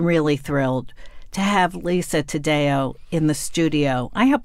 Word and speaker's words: Taddeo: even more than really thrilled to have Lisa Tadeo in the studio I hope I'm pronouncing your last name yes you are might